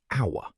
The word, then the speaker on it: hour: For example, we say an hour because the H is silent and we hear the vowel O.